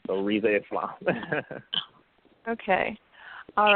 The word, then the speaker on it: Islam: And the last name is Islam, like the religion. So Rizza Islam.